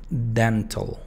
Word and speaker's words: dental: Dental. Dental. O sea, no digo dental ni dental. No, no se pronuncia la O ni la A. Simplemente la T y la L.